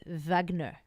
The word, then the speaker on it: Wagner: of uh Germans so Wagner is in is a common surname but the proper pronunciation is Vagner so I just want